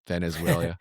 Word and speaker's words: Venezuela: Venezuela.